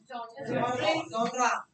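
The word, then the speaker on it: genre: या iron first वाली iron या iron second pronunciation iron next we have जनरे जॉनरा इट्स जॉनरा का मतलब बताओ तो धन्यवाद हॉन्टेड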